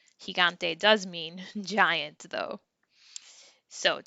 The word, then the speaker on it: gigante: just say you know we don't have that j sound instead it's a sound like an h sound so if we say the word giant which is higante you hear a ha and sound gigante does mean giant though